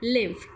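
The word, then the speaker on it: lymph: Okay, इसे pronounce करते हैं लिम्फ।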